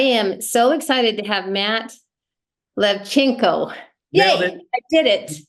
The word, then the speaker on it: Lewczenko: the gate I am so excited to have Matt levchenko nail it I did it nailed it I